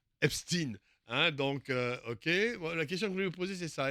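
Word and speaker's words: Epstein: Voilà voilà attention à la prononciation Epstine hein.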